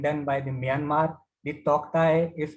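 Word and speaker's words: Tauktae: The Toktai is pronounced as Totai, and in Burmese language, it means gecko, highly vocal lizard.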